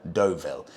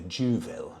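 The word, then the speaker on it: Deauville: you Tim I had I had no idea what was I calling it The jville I think semi- awkwardly pronouncing where I knew I was wrong you know it's funny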